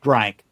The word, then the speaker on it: drank: The drink it's pronounced drank, D-R-A-N-K.